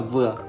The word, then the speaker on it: Dừa: Dừa, người miền Nam phát âm là vừa, ý muốn cầu mong sự vừa đủ, không tung thiếu và viên mãn trong cuộc sống.